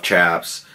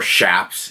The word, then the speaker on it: chaps: I had a friend that owned a leather company that made jackets and vests and motorcycle stuff, chaps, or shaps, if you want to pronounce them properly.